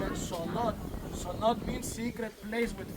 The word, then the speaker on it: cenote: 900 years ago and the Mayans call it sonote.